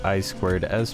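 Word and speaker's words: I²S: an optical port and what looks like iis but is pronounced i squared s port now this port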